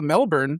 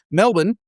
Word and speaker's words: Melbourne: bit because PPA Australia, Melbourne was Oh, sorry, I pronounced the R. Melbourne I think is okay.